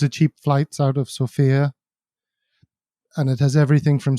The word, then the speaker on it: Sofia: do you live in i live in sofia sofia that's how it's pronounced not sophia yeah have you been to band school i